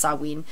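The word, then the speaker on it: Samhain: ancient Britain and Ireland the Celtic Festival of saween it's spelled ma s m ha a i n but it's pronounced saen was observed on October 31st at the end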